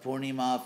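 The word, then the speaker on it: Purnima: pronouncing that for neem it's funny there are three vowels in the in the word poorni ma and Western devotees managed to get all three of them wrong so if you're gonna mispronounce after do it in style anyway so poor Danny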